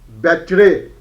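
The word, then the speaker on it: Becherawy: as we can okay t a m e r temmer b e c h e double r a w y battery okay hopefully probably probably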